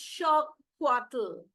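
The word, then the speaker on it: xocolatl: monuma and Astic word for it Z plle pronounced shattle evolved into the word chocolate oh that's interesting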